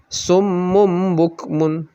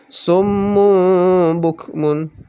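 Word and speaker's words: صم بكم: jadi agak lama bacanya jadi kalau salah-salah kita baca misalnya dengan summum bukmun jadi cepat itu salah yang bener ada dengungnya dua harakat sumur book Mun nah kemudian yang ketiga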